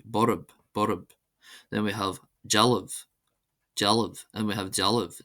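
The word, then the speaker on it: dealbh: Then we have jaliv. Jaliv. And we have jaliv. Jaliv. Statue. This is pronounced as if it were spelled d e a l i b h.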